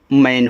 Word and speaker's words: man: MAN, देखो जब दो कॉन्सोनेंट्स के बीच में ए हो तो ए का उच्चारण ऐ की मात्रा के रूप में होता है, हमने सिखाया है। तो यम से यहाँ देखो माँ हो गया, ए का उच्चारण ऐ की मात्रा, यन से आपका ना, ए आपका यहाँ पे मैन हुआ।